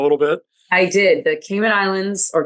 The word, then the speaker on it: Cayman Islands: The Cayman Islands or Cayman Islands as I'm told it's pronounced actually had beautiful, beautiful weather.